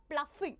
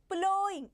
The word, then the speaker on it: plowing: This is not pluffing. Okay. People usually pronounce it as pluffing. It's not pluffing. It is plowing.